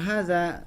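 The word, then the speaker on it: هذا: seperti yang kita ketahui, cara pengucapan hadza itu haknya itu 2 harokat. Jadi haknya 2 harokat, kemudian za-nya 2 harokat. Za-nya 2 harokat, pasti za dibaca 2 harokat karena jelas di depannya ada tulisan alifnya ya.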